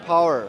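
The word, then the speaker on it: Poer: ये पावर से, ये जो चाइनीज प्रोनाउंसिएशन है पावर, ठीक है, इस तरह करके ये इसको प्रोनाउंस करते हैं। तो पोयर कहेंगे, हम पोयर ही कहते हैं।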